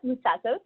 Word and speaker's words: Moutsatsos: I'm joined tonight by the one and only Moutsatsos. Am I pronouncing that correctly?